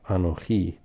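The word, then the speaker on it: אנכי: it without the vav it's just anohi like this so there's a holum and the holum indicates for us the o sound anohi so this is a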